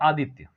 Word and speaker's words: आदित्य: Suppose कीजिए नाम है आदित्य, य हो और उस य के पहले कोई अधूरा कॉन्सोनेंट हो तो एक्चुअली य के साथ आए अ का उच्चारण होता है।